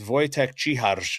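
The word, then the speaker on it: Vojtěch Čihař: news, and that is Wojtek Ciharz signed his entry-level contract. And I'm making a point of pronouncing his name that way because he is not from North America. He is from the Czech Republic, I believe, or from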